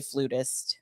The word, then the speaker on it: flutist: Is it flutist or flautist? Tomato. Okay. Right. It depends on what part of the world you're in, but Americans say flutist.